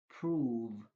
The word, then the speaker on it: prove: Instead, O is pronounced as oo. Move, prove.